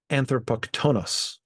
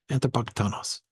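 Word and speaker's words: ἀνθρωποκτόνος: It should be anthropoktonos. Okay, so actually neither the place where they put it nor the place where I want to put it. It should be on the penultimate syllable. Anthropoktonos.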